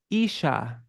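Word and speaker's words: Īśā: means my Lord but it's Isa with a long a which makes it feminine that and so it refers to Shati radika not my master but my mistress may I reside in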